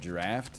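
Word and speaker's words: draught: we went over this it's called draft even though it's spelled d-r-a-u-g-h-t it's it's dra that's draft beer giant swing makes no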